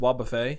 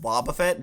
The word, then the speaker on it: Wobbuffet: It's not pronounced Wobbuffet. Are you sure? I'm pretty sure it's pronounced Wobbuffet because it's like the word buffet, like you get hit kind of thing.